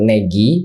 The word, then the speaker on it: Negi: Jadi pas dibilang ternyata di bio-nya disuruh panggil namanya itu Negi, aku baru sadar ternyata panggilnya Negi. Kemudian aku pikir selama ini Nge-Q itu artinya nge-kiwi. Ya betul, aku bilang begitu, ternyata bukan, ternyata bacanya Negi dan Ngek.